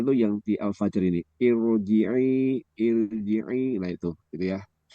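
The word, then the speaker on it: ارجعي: Irji'i itu eh, kalau roknya didahului oleh kasroh itu mesti akan tipis gitu ya. Irji'i, tapi khusus untuk itu, untuk irji'i ini tebal dia bacanya.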